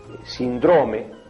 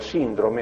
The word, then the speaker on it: síndrome: estadio o etapa o decir por ejemplo sindrome por síndrome Aunque en el origen